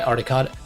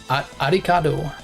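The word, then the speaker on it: Arikado: Got into this cult from a tip by Aricado. Aricado. I can't pronounce it correctly, but it's literally meant to sound like Alucard.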